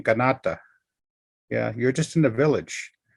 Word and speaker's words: Kanata: Yes, you come into Canada, and even Canada is a mispronunciation. It's a Neocall word saying Kanata.